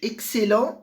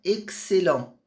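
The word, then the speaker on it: excellents: lembrar e van vinhos excel. Então a pronúncia aqui do X junto com esse C dá um som de ks, né? Excel.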